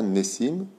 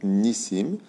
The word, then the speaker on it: Nissim: Donc, on va commencer avec Nissim. Donc, Nissim est un très, très, très joli nom. On dit Nissim ou Nissim? Nissim. On ne dit pas Nissim, on dit Nissim.